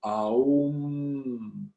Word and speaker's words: Aum: Et d'ailleurs, quand on le prononce, on sent bien que le A, il vient vraiment du profond de notre être, le A.